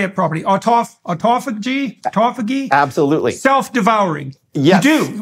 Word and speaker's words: autophagy: Autophagy? Absolutely. Self-devouring. Yes. You do. Autophagy, okay, so it does mimic fasting.